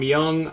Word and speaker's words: Myung: of ty tabor from King's X and john myung oh that's how you pronounce his last name Dream Theater and some